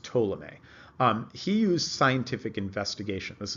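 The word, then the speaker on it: Ptolemy: this guy told me the P is silent by the way so it's pronounced ptolemee he used scientific investigation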